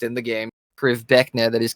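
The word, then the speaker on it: Krivbeknih: You know the word that word is weird, but that is actually how it is pronounced in the game. Priv Beckna.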